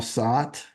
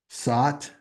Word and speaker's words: sat: You can even inhale sat. Sat rhymes with but.